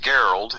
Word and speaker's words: Gerald: It's like Gerald, only it's pronounced Geralt.